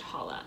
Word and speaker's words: challah: there's artisan chala bread it looks like challah but i know that it's pronounced holla so good job me braided loaf with slightly spongy texture and sweet tangy taste i've made hollow bread before so i